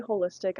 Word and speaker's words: holistic: And holistic, when I say holistic, I mean it's spelled like WHOL, istic, ISTIC, because that is the whole of your life, the whole of your experience.